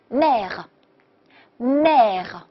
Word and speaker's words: mère: 所以呢，这个词读作 m a n e，小舌音连起来 mère，非常好，très bien，mère 就是母亲妈妈。OK，好，再看。